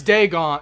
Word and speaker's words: Dagon: It's Dagon.